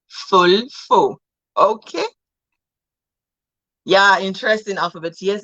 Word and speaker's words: Volvo: Okay, so if Volvo is to be pronounced German, it will be Fulfo.